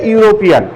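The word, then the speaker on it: European: ঠিক এখানেও ইটা ইউ এর মতো উচ্চারণ হওয়ার কারণে, যদিও ইটা ভাওয়েল, তারপরেও এর পূর্বে এন না বসে তখন কি বসাইতে হবে?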